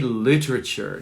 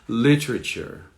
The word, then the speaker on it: literature: Literature. It's more British, perhaps a little bit more British. Literature. Listen to the accent, or the stress. Literature. It's on the beginning.